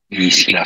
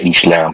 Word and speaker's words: Isla: Isla Fisher. Hindi pala isla ang pronunciation yan. Isla. Isla. Walang, walang S. Silent.